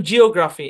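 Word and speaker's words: geography: অনেকে বলে থাকেন এভাবে তো এখানে দেখেন ইও একসাথে আছে তারপরে কিন্তু ই উচ্চারণ হচ্ছে ও উচ্চারণ হচ্ছে এই কারণে এটা বুঝানোর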